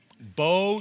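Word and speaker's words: Beau: world folks so now good luck with this bo how do you really say your name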